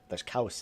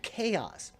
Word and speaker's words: chaos: in the islands, but it came out there's cows in the islands. Like there's cows? What? What do you mean cows? Like, no, cows, madness. Oh, chaos.